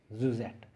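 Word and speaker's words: syuzhet: Josette is sy u z h ET we pronounce it Suzette it means that plot plot of a unitary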